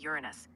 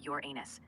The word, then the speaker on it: Uranus: Technically, it's Uranus, but people can't help hearing Uranus, and that makes it comedy gold.